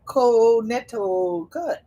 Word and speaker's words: Connecticut: Let me see what it is here in Connecticut. Boy, growing up, that was a hard state to learn how to spell. So, because the C is silent.